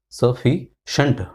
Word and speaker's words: sufficient: It is sufficient. Not shient, but shunt. Sufficient. Fee has got stress here. The second syllable.